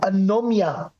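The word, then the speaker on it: anomie: something right there is there is something called anomia and that's how we pronounce it but it's basically maybe anomia which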